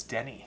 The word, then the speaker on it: Denny: I said Danny. Oh, it's Denny.